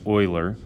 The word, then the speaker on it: Euler: about Euler's number yes this guy's name is pronounced Euler and we're also going to talk about natural